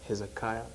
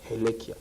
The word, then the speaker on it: Helia: pronounce like for example people think it's Hezekiah not Helia so some would one